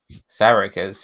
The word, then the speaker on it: Sarek: Sarek is my favorite episode by Yeah. far. Sarek or Sarek?